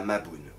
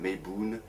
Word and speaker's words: Mabon: Aujourd'hui on va parler de la fête de la Mabon, ou la Mabon, Mabon, Mabon, c'est comme vous voulez. Il y a plusieurs prononciations.